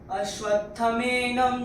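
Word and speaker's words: अश्वत्थमेनं: यहां पे आपने शायद नोटिस किया होगा कि मैंने बोला था अश्वत्थमेनम सुविरूढ़ मूलम। तो यहां पे जो ये म पूरा है ये इसका म आधा आ जाता है।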